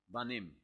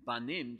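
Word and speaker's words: בנים: use the masculine form banim rather than banano. Banim is the word which means children. And yet you just change the pronunciation ever so slightly and banim children becomes bonim builders.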